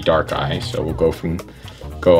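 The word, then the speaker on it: Darkrai: and dark eye gx so dark eye dark gray i think we've heard it both ways i think the japanese pronunciation is supposed to be dark eye so we'll go from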